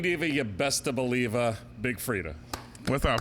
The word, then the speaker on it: Big Freedia: Ladies and gentlemen, the Queen Diva, you best to believe, Big Freedia.